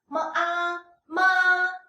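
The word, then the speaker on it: 妈妈: mama mama mama so the second one don't have the haha which is the neutral tone and you should pronounce it lighter and softer ma ma ma ma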